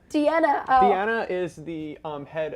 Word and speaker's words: Deanna: Deanna. Deanna.